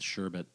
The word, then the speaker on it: sherbet: I'm the same way with sherbet because everyone says sherbet. There's no R at the end. There's only one. It's spelled without an R.